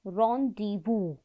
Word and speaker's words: rendezvous: Rendezvous, pronounces rendezvous, means meeting place with the comet, and detonation means exploding of the payload.